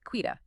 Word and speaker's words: Quita: clear right out of the gate, it is pronounced Quita. Quita, yes.